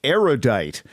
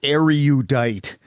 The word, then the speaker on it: erudite: number of erudite people mispronounce erudite which has three syllables not four say erudite not are you diet because you are judged